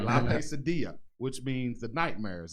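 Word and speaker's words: La Pesadilla: So we have in the building David Lemus, La Pasadilla. Did I say that correct? Yeah, you said it right. I said it right. La Pasadilla, which means the nightmare.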